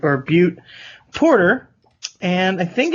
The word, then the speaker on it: Butte: They are from Deep Bend, Oregon, and it is the Black Butte or it's Butte, so I guess you'd pronounce it Boot or Butte Porter, and I think it's kind of one of Deschutes' flagship beers.